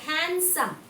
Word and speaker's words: handsome: D is silent. D is silent. We should not pronounce D sound.